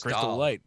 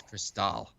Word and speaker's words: Cristal: northern ontario that's crystal oh i'm sorry did i pronounce it wrong yeah you did chris crystal christophe that's cristal know drink me some cristal don't try and french it up actually so that kind